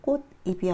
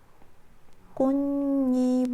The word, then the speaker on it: 꽃잎: 소니 불 그리고 꼰 발음이 어떻게 내 꽃 입이 아니라 꽃 이미 아니라 꽃님 으로 나오죠 자 여기서 밀기 된